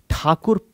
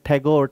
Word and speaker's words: ठाकुर: Because Britishers का accent जो है वो ठाकुर प्रोनाउंस करने में कहीं ना कहीं सफल नहीं था, सक्षम नहीं था. और वो लोग ठाकुर को ठाकुर, टैगोर, टैगोर कहते थे.